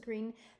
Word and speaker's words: Greene: Greene," that's Green with a silent E at the end, "discovered that they were expecting a baby girl.